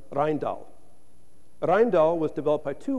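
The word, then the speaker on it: Rijndael: And in late 2000, NIST announced the winner pronounced Rhindal.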